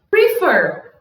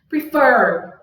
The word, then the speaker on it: prefer: difícil da gente perceber prefer prefer prefer tá vendo que oer tá bem mais forte do que o pre prefer I prefer Então você